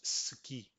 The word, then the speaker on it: ce qui: if you agree that when the person pronounces ce qui, he actually says ski. Our ear actually hears ski. So let's play that. C'est que alors ce qui est fou c'est que